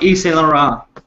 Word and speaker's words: Yves Saint Laurent: Oh, Yves Saint Laurent. Yeah, it's I suck at pronouncing things, but it was a 3-piece suit, navy blue, had the gold buttons.